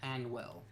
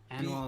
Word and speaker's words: Hanwell: And I was just like, "Uh, the game is called Beyond Anwell. Hanwell is spelled H A Hwell.